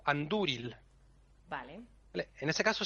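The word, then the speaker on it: Andúril: Hay otro caso en el que la penúltima sílaba es fuerte. Cuando es larga. Aunque no lleve acento, o sea, aunque no lleve consonante después, Ujú. si lleva acento, si lleva tilde, perdón, es larga. Hay poquitos casos, pero algunos son, por ejemplo, el entari, Ujú. el emire o anduril.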